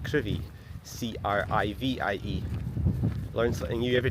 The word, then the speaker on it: Crovie: I always thought I'd read on the map it was Crovie, C-R-O-V-I-E, but yeah, it's pronounced Crivie, C-R-I-V-I-E.